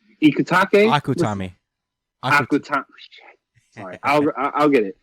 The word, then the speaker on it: Akutami: You see that a lot in American comics, and god damn it, yo, Ikutake. Akutami.